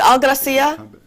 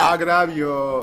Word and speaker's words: agravio: Is it Algracia? No, I didn't say it right. See, I got to go back to school. You know, if I had just stuck with it. Algravio. Agravio, yes. Algravio. Algravio. Okay, Agravio, yes.